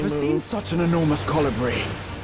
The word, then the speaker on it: colibri: seen such an enormous colibri. Wait, that's how you say it? Colibri? I always thought it was Calibri.